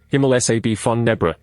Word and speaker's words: Himmelscheibe von Nebra: The Nebra Sky Disc, German Himmelscheibe von Nebra, pronounced Himmel SAB von Nebra, is a bronze disc